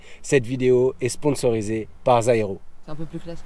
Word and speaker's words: Zyro: En fait, ils m'ont dit ça se prononce Zairo et moi je suis le seul tocard à dire Zero depuis 2 vidéos.